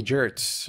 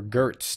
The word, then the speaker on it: Gertz: sex appeal um but jamie jerts or gertz depending on how you pronounce her name is a lot sexier